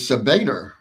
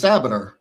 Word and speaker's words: Sabater: I've heard your name in the press conference pronounced as Sabater, but I thought it was Sabater."